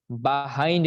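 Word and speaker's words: behind: বাহাইন্ড, এটার উচ্চারণ কি? বাহাইন্ড, নট বিহাইন্ড।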